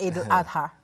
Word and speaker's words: Eid al-Adha: Pronunciation. That was good, Eid al-Adha.